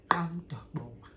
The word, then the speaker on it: Amdabo: This is how you pronounce it. Say after me, Amdabo.